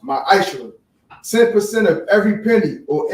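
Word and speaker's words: מעשר: Means tenth in the Hebrew, and it's pronounced ma'ashra.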